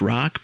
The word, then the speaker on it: Hrach: socials I am at Rock but that is spelled HR a and my website is